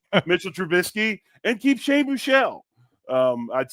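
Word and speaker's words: Buchele: Shane Buchelle, that's the corre the correct pronunciation.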